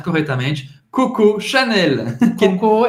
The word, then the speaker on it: Coco: Coco, e como cocô mesmo em português.